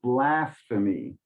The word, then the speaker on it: blasphemy: Okay, the emphasis a little more upfront, so blasphemy.